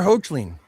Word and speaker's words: Hoechlin: Tyler Hoechlin.